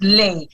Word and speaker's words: Lay: First of all, we've been friends for like nearly 16 years and you still cannot pronounce my surname. So you have a fine to pay. It's Lay.